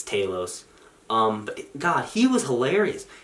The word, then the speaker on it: Talos: uh I forgot already figure out how they pronounced I think it's Talos I thought was Talos it's Talos um God he was hilarious he had really